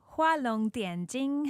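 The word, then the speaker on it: 画龙点睛: It's Hua Long Dian Jing is how you say it in Chinese.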